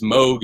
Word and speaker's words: Moog: So this What Does It Take has this cool Moog line, and Alan, the pronunciation stickler, should appreciate that it is Moog and not Moog.